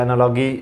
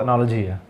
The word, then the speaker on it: analogy: इसे हम कोई एनालॉजी या एनालॉगी भी कहते हैं, बट असल में इसकी प्रोनाउंसिएशन जो है वो एनालॉजी है।